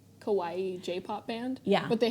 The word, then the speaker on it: kawaii: like cute Japanese girls for a while I pronounced Kawaii as kiwi kiwi kiwi kiwi yeah